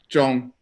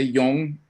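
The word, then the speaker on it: སྦྱོང: Jong. Yo. Okay, I know most of you from Mexico, are you gonna say yong, okay? Because that's how Mexicans pronounce J's, but try say jong, okay?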